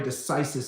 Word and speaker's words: decisis: c i s i sorry decisis is how it's pronounced and so even though